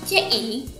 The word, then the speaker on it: ci: CI yang awalnya kita baca ci. Cara bacanya seperti saat kita bilang tes, tambah E, tes, contohnya kata dalam bahasa Mandarin se.